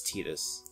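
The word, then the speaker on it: Tidus: name Titus right uh people getting these arguments over whether his name is Titus or Titus no it's Titus see here's the thing his Japanese name is Tita which would be like Titus but right there happens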